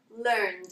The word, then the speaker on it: learned: So for example, the verb learn, in the past we pronounce learned, okay? Now again with play, we pronounce played.